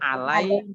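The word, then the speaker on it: على: bahasa sehari-hari bahasa Arab ala artinya kepada diatas itu membacanya ala memang harus menulisnya harus ada yag nya aalaa'i ya iya nya harus ada tapi tidak dibaca makanya dibaca panjang awal gantinya dibaca panjang menjadi ala-ala itu artinya atas di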